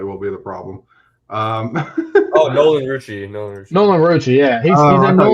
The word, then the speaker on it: Nolan Rucci: Pronouncing it correctly will be the problem. Nolan Rucci.